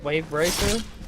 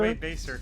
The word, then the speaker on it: Wavebacer: people mispronounce Wave Racer? Baser? Wave Baser, yeah. That's not an R, that's yeah, Baser, Wave Baser. I thought there was a second R there for a minute.